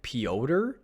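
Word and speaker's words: Pyotr: but Peter kochikov kochtakov it's crazy because I went to look at his name like pyodor but if you actually go look on hockey reference it says pronounced Peter I haven't watched any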